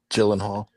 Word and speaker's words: Gyllenhaal: How do you spell how you pronounce her name? Gyllenhaal.